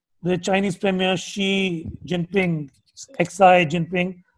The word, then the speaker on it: Xi Jinping: Chinese Premier Xi Jinping, Xi Jinping, she pronounced his name as 11 Jinping.